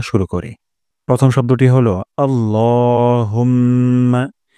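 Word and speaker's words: اللهم: করি প্রথম শব্দটি হলো আল্লাহুম্মা এখানে ল এক আলিফ টান দিব এবং লা বলা যাবে না আল্লাহ বলবো না আল্লাহুম্মা হে আল্লাহুম্মা হে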